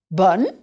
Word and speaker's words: bonne: Bon, bonne. Remember that bonne is more open.